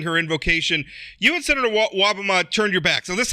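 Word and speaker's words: Wobbema: about you and another Republican state senator, Senator Wobama. Am I pronouncing that?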